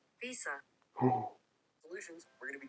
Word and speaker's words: VESA: to go with the VESA. Is it VESA? No way. Is it Visa? Visa.